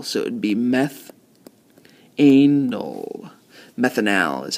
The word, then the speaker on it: methanal: Methanal is how we would pronounce that one.